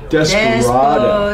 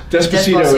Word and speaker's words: Despacito: Desperado. No. Despacito is how they say it in Honduras.